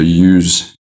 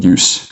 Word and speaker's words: use: You just have to change the pronunciation a little bit from a z sound to a s sound. So use is the verb, and then use is the noun.